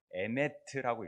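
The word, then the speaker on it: אמת: 우리가 예전에 배웠던 글자 중에 여러분들이 잘 기억나겠지 모르겠지만 히브리 글자는 이렇게 읽는 게 아니라 왼쪽에서부터 오른쪽으로 읽으니까 에메트라고 읽어요.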